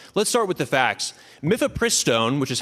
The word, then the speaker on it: mifepristone: Mythopristone, which is how it's pronounced, has been approved by the FDA for over two decades.